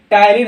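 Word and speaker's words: ptyalin: ठीक है बच्चों, टाइलिन ज्यादा पूछता है, एकदम पी साइलेंट है।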